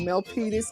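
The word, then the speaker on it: Milpitas: I'm in um It's called a city called Mel Petis, California. Please spell that for me.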